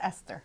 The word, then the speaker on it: Eszter: Is it Esther or Eszter? It's Esther. Esther. It's Yes. just spelled differently than we Yes, spell it it in is. English. Yes, that's right. Eszter. Yes, Esther. that is the Hungarian spelling, but it's the same name.